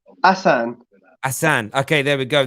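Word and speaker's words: Ahsan: yesterday on my right it looks like a n s a h it's not is it is it a h s a n that's the one brother has it pronounced asan asan okay there we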